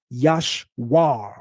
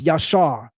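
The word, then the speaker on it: ישר: Not yashwir with a w. It's yashar. Yod shin r.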